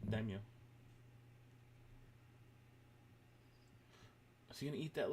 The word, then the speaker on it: Daimyo: Daimyo.